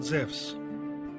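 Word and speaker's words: Ζευς: wrong english translation because correctly he is called zevs in the greek language e and u is pronounced like a w in the word wisdom zephs was the leader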